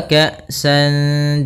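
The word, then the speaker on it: كَأْسًا: Maka cara membacanya yaitu kita samarkan suara tanwinnya kepada huruf dal. Wa ka'san, seakan-akan langsung melafalkan huruf dal. Maka ikhfa'nya adalah ke huruf dal langsung.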